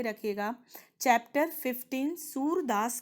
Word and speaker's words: सूर: सुर सुर नहीं है, देखो प्रोनाउंसिएशन में ध्यान देना। सुर सुर का मतलब होता है लय ताल, जो संगीत का सुर होता है। लेकिन यह है सूर। सूर मतलब होता है बच्चों अंधा।